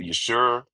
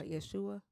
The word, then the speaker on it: Yeshua: Well, there was one in particular that was actually and it's not Jesus. It's how you pronounce it. Yeshua. Uh, Yeshua.